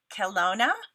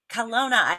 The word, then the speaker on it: Kelowna: say it right correct me if i don't kelona kelowna i got it okay she has two boys